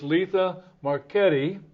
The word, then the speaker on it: Letha Marchetti: lives over here is Letha marchetti did I say it right Lisa you certainly did Ken oh good and